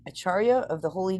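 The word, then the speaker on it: ācārya: as the achar acharya is that how you say it again C is pronounced CH okay acharya of the Holy Name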